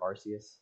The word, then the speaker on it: Arceus: I know I've really only uploaded like mobile stuff to this channel, but I just got Legends Arceus. I haven't played it, or Arceus, depends on how you say it, but I haven't played it at all yet.